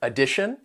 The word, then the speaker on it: addition: So, the words have have three syllables and that first and third syllable, you can hear that schwa sound, that uh sound. The tio n is pronounced as shun and the syllable stress comes before it on the second syllable.